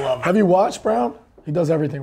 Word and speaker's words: Braun: assists for brawn yeah christian brown spelled brown spelled braun it's pronounced i like him over